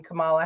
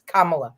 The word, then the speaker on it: Kamala: a panel um because of the way she pronounces uh the name Kamala Harris or it's Kamala it's Kamala and we all have to pronounce